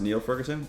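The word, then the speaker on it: Niall Ferguson: what are you going to do um it's pronounced Neil Ferguson is it good to know thank you no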